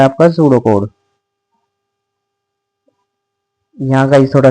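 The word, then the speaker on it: pseudocode: लगातार नहीं खेला अ सूडो code pronounce सूडो code ठीक है प्रोनाउंस ये किया जाता है अब यहां देख लो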